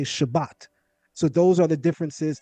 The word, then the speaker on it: Shabbat: In southeastern Europe what we pronounce as T they pronounce as S. So they would greet you and they would say shabas. whereas we would say Shabbat.